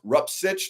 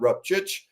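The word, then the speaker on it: Rupcich: Fun fact for Buck, Andrew Rupchich's last name is pronounced Rupsich, not Rupchich.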